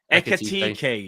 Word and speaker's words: Ekitike: So Ekitike, how do you pronounce his name again? Ekitike, yeah.